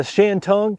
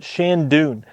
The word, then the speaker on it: Shantung: The Acer truncatum, it's known as, the common name is the purple blow maple or the Shantung. Some people pronounce that Shandoon.